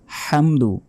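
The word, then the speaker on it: الحمد: এখানে আলহামদু হবে না বলতে হবে আল হামদু হামদু গলার ভেতর থেকে উচ্চারিত হবে হামদু আলহামদু লিল্লাহি লাতে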